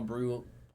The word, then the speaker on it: Brujan: Rays would have Luis Patino and Vidal Bruce. See, I automatically would deny that straight. Because Vidal Brujan.